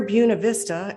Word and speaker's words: Buena Vista: Eddie Owens Martin was born on July 4th, 1908 in Glen Alta, Georgia, near Buena Vista, and that's the way they pronounce it, where he eventually built his colorful kingdom.